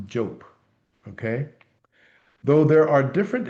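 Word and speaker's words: Diop: Last name spelled Dio P and pronounced job.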